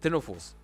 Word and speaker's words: ctenophores: It's very dispersed for cnidarians and for ctenophores. Yes, the C is silent.